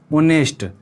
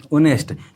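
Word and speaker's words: honest: देखिए इसका उच्चारण क्या है? ओनेस्ट, इस तरह से किया जाता है, ओनेस्ट।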